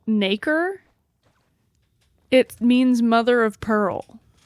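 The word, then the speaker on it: nacre: Um it's pronounced naker.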